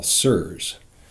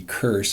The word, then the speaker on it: SIRS: that we call sirs chronic does start with a hard C serves as a soft C but if we use the heart see it would be curse and that just seems like piling on right there sick enough already